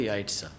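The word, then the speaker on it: Jajce: जे जे सी ई लेकिन उसके जो प्रोनाउंसिएशन है वो है यासा ठीक है तो हम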